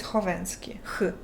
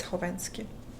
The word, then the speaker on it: Khovanski: The K is silent in your last name. It is silent. It's Khovanski. Because I added K because KH is meant for the H sound in English.